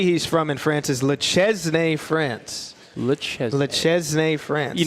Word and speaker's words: Le Chesnay: The answer of the city he's from in France is Le Chesnay, France.